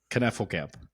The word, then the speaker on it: Knefelkamp: Knefelkamp. He got it. Nailed it. I botched it earlier. Not easy. No. Lots of K's, lots of silent. Well, not silent. No, nothing is silent.